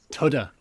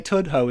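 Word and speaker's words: Tudhoe: be an outsider james it's pronounced tudha if you say if you say tudho in tudha then you're in trouble you may as well say prudhoe and prudha no incoxer well i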